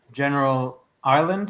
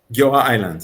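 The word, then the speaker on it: Giora Eiland: talk about, obviously, and also the bringing on General Island. Am I saying it right? Giora Island, yes.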